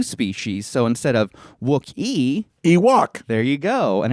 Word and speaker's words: Ewok: So instead of Wookiee, Ewok. there you go. And it rhymes with Miwok, a Native American tribe indigenous to the Redwood Forest in which the indoor scenes were filmed.